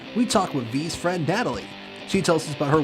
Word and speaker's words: Natalie: This is Natalie. That's how you pronounce the name.